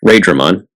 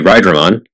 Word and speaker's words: Raidramon: The ones shown on screen were Flamedramon, Raidramon, yes, Raidramon. It should be Rydramon, just like Raiden from Mortal Kombat should be Raiden, but that is the official English pronunciation, and Magnamon.